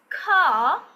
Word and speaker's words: car: Okay, they are not going to pronounce the R sound at the end.